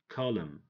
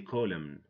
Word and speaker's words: column: autumn don't say autumn column don't say column him don't say him him know him without the N why because when n comes after M the N is silent it has no sound it makes no sound